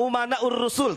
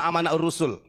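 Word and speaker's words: أمناء الرسل: Kemarin menyampaikan begini, Bahar bin Smith, al-ulama umana'ur rusul, tapi bacanya al-ulama amana'ur rusul. Saya katakan salah. Kenapa? Karena di sini umana, jamak taksir ya.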